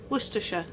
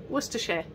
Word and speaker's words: Worcestershire: Worcestershire. Worcestershire. Worcestershire. It's not Worcestershire, okay? Worcestershire.